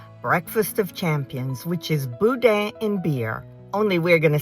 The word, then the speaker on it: boudin: Contrary to how most people who are visiting Louisiana pronounce it, it is not boudin. It is boudin, b o u d i n.